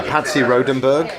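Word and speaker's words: Patsy Rodenburg: yeah, Patsy Rodenberg.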